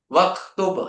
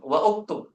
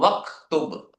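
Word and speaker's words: واكتب: Waktub ya kan? Kita nggak boleh mengucapkan wa uktub, nggak boleh. Langsung waktub.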